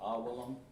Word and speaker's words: Awalam: Then we'll have what we call a wa sound. Let's see. Make sure I got this spelled right. Awalam. Yeah, that's wa. Awalam. Wa. Awa. Like that.